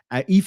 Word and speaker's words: Aoife: Pronounce Aoife, exactly. Aoife is a beautiful name. It's one of my favorite names. Irish names are gorgeous. They're hard to pronounce if you don't know how Irish spelling works.